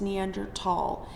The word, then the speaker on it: Neanderthal: It's Neander tall. I will absolutely correct you in class if you say it incorrectly. I don't I I guess because maybe someone said it one time and didn't know how to say it and everyone just copied them, but it's not the correct way to say it.